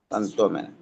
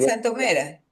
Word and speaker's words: Santomera: Santóera que se explotaron. Está bien. Santomera. Santomera. Ya es que no lleva tilde en la o si no fuera Santómera.